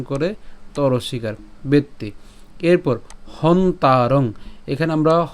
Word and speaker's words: হন্তারং: তাহলে উচ্চারণ কেমন হবে, বেত, এই ত পর্যন্ত উচ্চারণ করে তর শিকার বেত্তি। এরপর হন্তারং, এখানে আমরা হ এবং দন্তন পর্যন্ত উচ্চারণ করছি, হসন্ত পর্যন্ত, ঠিক আছে, তাহলে এর উচ্চারণ কেমন, হন।